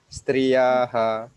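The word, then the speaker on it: स्त्रियः: the verse, and then when we see the visarga, there is 8 with the dot under, so we should pronounce like echoing striyaha like that.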